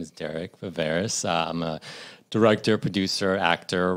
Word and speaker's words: Viveiros: give us the correct pronunciation. Well, if you're in Portugal, it's Viveiros. Okay, well, we're in the U.S. Yeah. So Viveiros.